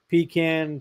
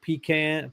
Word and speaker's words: pecan: So, pecan, pecan, pean, however you pronounce it. People pronounce it both ways.